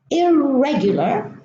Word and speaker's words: irregular: irrecoverable irremovable irreversible irreligious now here we germinate why because we have word boundary we have two parts we have the world and we have a prefix at the beginning of the world so bad the ER